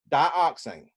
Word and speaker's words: dioxane: used as a solvent it is spelled di o X a and E pronounce that to yourself say it out loud you don't have to keep open your mind just say it out loud where you are dioxane now I want you